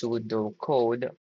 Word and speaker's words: pseudo code: sudo code pronounced sudo code or flowcharts.